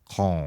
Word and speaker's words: Cannes: in French, the important thing is you don't pronounce anything. Anything. You for the first letter, and the rest is just oh. Okay, so con.